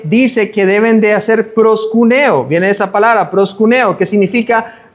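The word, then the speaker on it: προσκυνέω: Entonces es hacer reverencia a es adorar, suplicar como una acción y se pronuncia para nosotros en español aproximadamente como proscuneo, ¿verdad?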